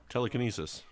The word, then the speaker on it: telekinesis: just like telekinesis or he puts the emphasis on the wrong syllable as they say that's